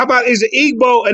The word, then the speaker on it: Igbo: that name but maybe how about is it Igbo a name of a tribe because would that be it's pronounced IBO we don't okay now okay here's the name